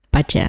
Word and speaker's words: Bazi: Tapi dibacanya ternyata paj paja. Nah, ini adalah common mistake berarti ya, Pak Riki ya yang harus diluruskan. Kalau Bazi itu dibacanya adalah paca.